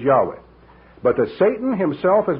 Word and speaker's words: Yahweh: we shall prove that the correct pronunciation has not been lost and he concludes that it is Yahweh but the Satan himself